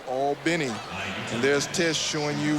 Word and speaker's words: Albany: the pronunciation right yes people look at and think it's pronounced like albany new york but it's all benny well when in rome